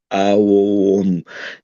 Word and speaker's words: Aum: They say it's aum. Yeah, It's they're not like talking about a ohms like u resistance ohms. So it's three syllables.